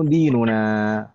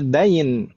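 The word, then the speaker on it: دِين: Nah, din itu bacanya dinun gitu ya. Dinuna. Jangan dibaca dain. Kalau dain apa, Om? Apa makna dain? Bedanya dikit. Dinun dan dainun.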